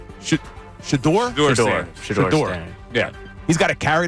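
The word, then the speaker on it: Shedeur: to each his own I guess but yeah shadir Sanders having the shadir shador I always say his name wrong sh shador yeah he's got to carry that jacket around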